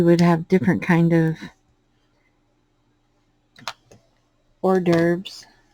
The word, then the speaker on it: hors d'oeuvres: have different kind of hors d'oeuvres my son called him call him horsey derbers because he would try to pronounce it like they were spelled um my oldest son